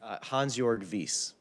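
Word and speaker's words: Hansjörg Wyss: keep referring to um and how do you pronounce his name again the Swiss individual hansjorg Vis yeah that guy um so and I understand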